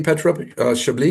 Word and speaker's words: Petra Chablis: Am I pronouncing that correctly, Petra Chablis? Correctly.